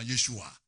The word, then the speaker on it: Yeshua: Moi, je prononce maintenant Yeshua. Parce que c'est l'original.